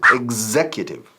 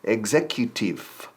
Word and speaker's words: executive: Executive. Casi con un F al final.